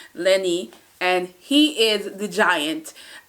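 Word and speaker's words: Lennie: that kind of deal and then you have Lonnie Lenny Lenny to pronounce his name right Lenny and he is the Giant and also he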